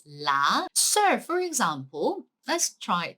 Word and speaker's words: ㄹ: It's not R, it's not L. You have to pronounce it like L, okay? So la, right?